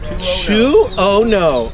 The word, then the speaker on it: Tuono: My license plate will tell you the proper pronunciation. Okay, don't look him up. He's packing, but Tuono.